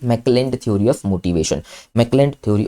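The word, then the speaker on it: McClelland: मैकलैंड की spelling M ए सी मैक मैकलैंड। मैक क्लैंड। ठीक है? सी एल ई एल एल ए एन डी क्लैंड। क्लैंड क्लैंड क्लैंड क्लैंड।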